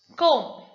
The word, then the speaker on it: comb: to pronounce them now the first rule says if the letter b is usually not pronounced after m at the end of the word so after m if the b comes towards the end of the word you just don't even see the b you can ignore the b for example comb is